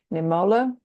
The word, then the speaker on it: Niemöller: And that is from, I think it's pronounced Pastor Martin Niemöller.